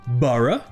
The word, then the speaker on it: burgh: Et donc, en anglais britannique, ce mot se prononce borough, et c'est la même prononciation pour le mot B-U-R-G-H. Borough.